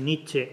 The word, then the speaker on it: Nietzsche: También es cierto que si Nietzsche, vamos a pronunciarlo a la alemana, no a la francesa, si Nietzsche hubiera servido para algo